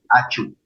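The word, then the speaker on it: ačiū: se dice gracias gracias achu achu achu así como si estuviéramos estornudando la vez pasada nos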